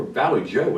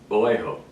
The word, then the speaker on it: Vallejo: looked at my ordering one I wonder where Valley Joe is I had no idea I never heard of that until I found out it's pronounced Vallejo being a Midwest country boy not knowing Spanish